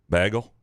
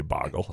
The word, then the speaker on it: bagel: And two, bagel and gaggle don't rhyme unless you're Graham. Bagel.